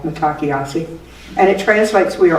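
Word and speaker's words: Mitákuye Oyás'iŋ: And the sentence is Matakiasi. It's not spelled like it sounds at all, Matakiasi.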